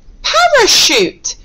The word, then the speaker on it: parachute: Parachute.